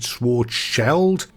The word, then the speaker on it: Schwarzschild: I did hear a German pronounce it Schwarzscheld, but they pronounced the Schwarz part in a fashion that is just well beyond the vocal skill set of your average scouser. So for me, and for this one, is Karl Schwarzschild, or just Karl for short.